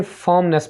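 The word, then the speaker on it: firmness: इस्तिकामत को इंग्लिश में फर्मनेस बोलेंगे। यहाँ पर आपने जो आ रहेगा इसको थोड़ा सा आपने साइलेंट रख के बोलना, फर्मनेस, फर्मनेस, इस्तिकामत।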